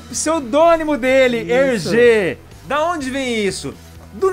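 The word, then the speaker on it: Hergé: remi então é GR ele inverteu colocou RG e a pronúncia é RG olha só que espertinho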